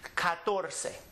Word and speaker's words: catorce: The natural accent is on this syllable because it ends with a vowel. So we come back to this syllable and we emphasize this syllable and we pronounce the word catorce.